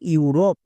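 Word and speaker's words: Europe: word এর জন্য sound হবে ইউ যেমন দেখো ইউরোপ এই ওয়ার্ডটিতে দেখো একদম শুরুতে ভাওয়েল ব্লেন্ডিং ওয়ার্ড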